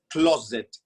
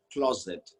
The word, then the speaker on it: closet: from where you are try with me close it say it again close it say it one more